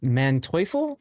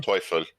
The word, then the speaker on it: Manteuffel: So this is the Manteuffel. I think that's how you pronounce it. It's the tier Yeah, 9. Manteuffel.